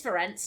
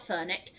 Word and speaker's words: Ferenc: It is Ferenc, not Ferenc.